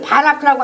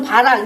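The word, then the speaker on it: בָּרַךְ: 히브리어로 복을 바라크라고 합니다. 바라크 또는 바락, 이제 우리 발음상 이제 이렇게 바라크라고도 할 수 있고 바락이라고도 할 수 있어요.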